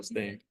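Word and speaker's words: Staind: I think it's Stain with a D, so Stained.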